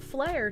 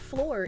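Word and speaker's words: Fleur: Also, floor is pronounced flare, not floor. It's a posh girl name.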